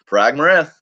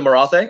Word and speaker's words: Marathe: you know, Parag Mareth, or however the hell you pronounce it. Prague Morate. Is it Marathe? Okay, thank you for that. Marathe. Thank you for that correction.